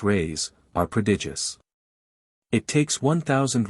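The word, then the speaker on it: réis: from the Portuguese pennies or Reese pronounced rays are prodigious it takes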